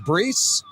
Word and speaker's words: Brees: I think it's pronounced Brees. Yeah, you right.